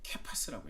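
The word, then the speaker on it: Κηφᾶς: 이 게바라는 이 이름을 헬라어로 발음한다면 케파스라고 했죠. 케파스.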